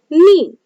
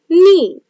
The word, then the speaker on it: knee: So here for example, knee, knee. So here when we read this word, we can hear only the sound of N, but we cannot hear the sound of K.